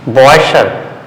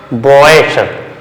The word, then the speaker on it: Bräuche: It's called Bräuche, okay, Bräuche. So here also Bräuche, okay, sh, that means if CH is written after U umlaut, A umlaut or S, the sound is sh.